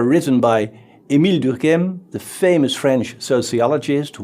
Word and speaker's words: Durkheim: around the year 1900 durkheim i tried to pronounce his name the french way but maybe i will forget it later and give it a more german sound durkheim was very interested